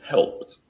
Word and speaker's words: helped: Help becomes helped. Pasa un sonido t. Helped.